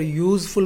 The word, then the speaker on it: useful: Here useful means y sound.